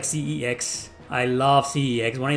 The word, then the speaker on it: CeX: No, son, it's pronounced CEX. Oh, there's a difference. Oh, yeah, it's called CEX.